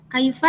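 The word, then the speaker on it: كيف: Kaifa di sini hukumnya adalah mad layyin. Kenapa? Karena ada ya sukun yang jatuh setelah harokat fathah. Maka cara membacanya harus lunak atau lemas.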